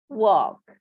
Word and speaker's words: walk: Langsung pada kata KL tidak dibunyikan ya. Jadi silent L-nya. Walk.